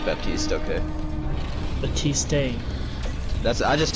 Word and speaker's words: Baptiste: Actually, how do you pronounce his name? Who, Baptiste? Yeah, it's Baptiste, okay.